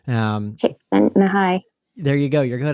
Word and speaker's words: Csikszentmihalyi: We won't even mention the unpronounceable Polish or whatever, wherever he's from, name. Csikszentmihalyi.